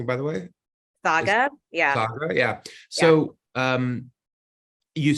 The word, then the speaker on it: Saga: um uh you mentioned is that how I'm pronouncing it by the way Saga yeah yeah so um you started off initially